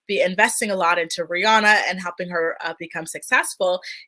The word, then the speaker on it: Rihanna: I believe Rihanna was about, and I should say Rihanna, the way she pronounces it.